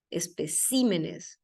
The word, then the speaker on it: especímenes: sílaba son casos especiales Espécimen por ejemplo pluraliza especímenes Esa es la manera correcta de pluralizar no sé un